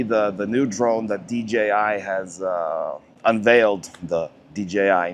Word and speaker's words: DJI: the DJ uh DJI I I used to pronounce that incorrectly DG I know it's DJI uh it's has a